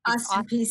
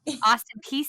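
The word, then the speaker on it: Austin Peay: wait it's it's wait I said it wrong it's not Austin State Austin peace State University Austin peace State yes what are you guys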